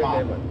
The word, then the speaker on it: Mallorca: Yeah, 2 L's and yay. Bayo de Mallorca. Oh, what was that? Palma. Palma. Palma de Mallorca.